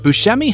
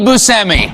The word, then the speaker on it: Buscemi: many dentists have offered to help him out Buscemi has purposely declined knowing the impact it could